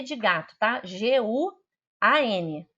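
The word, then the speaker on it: guǎn: G-U-A-N. G de gato, U-A-N. N de não, tá? Guan, assim que se pronuncia, terceiro tom.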